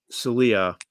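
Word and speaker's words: Saleh: I saw someone ask why isn't Trevor Siemian getting a chance to Robert Salia. Right, that's how you pronounce his last name.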